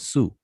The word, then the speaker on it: sw: it so sw so this is transliterated sw and we pronounce it as su alright so it's a